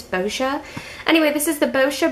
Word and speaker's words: Boscia: I got it at this is the bosha I believe that's how you pronounce it I know some people have pronounced it basquia but I think it's bosia anyway this is the